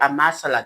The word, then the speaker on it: AMSRF: Okay, so the Amasala, that's how we pronounce it, Amasala framework.